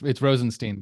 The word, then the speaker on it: Rozenshtein: So, tell us about yourself and correct my pronunciation of your name if I just butchered it. Sure, it's Rozenshtein, but I don't.